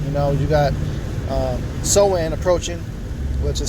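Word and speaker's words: Samhain: doing on it you know you got uh soen approaching which is spelled Sam H but it's pronounced soen which is a straight uh day of Witchcraft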